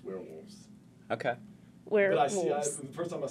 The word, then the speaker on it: We're Wolves: answer is yes yes or no my favorite we're we're we are wolves you see those things together and then you